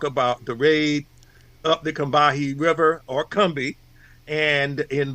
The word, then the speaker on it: Combahee: the river raid, in down south, it's pronounced Combahee. But it's a raid on the Combahee Ferry. Doing it the way the Yankees might have done it, it's Combhee ferry, actually.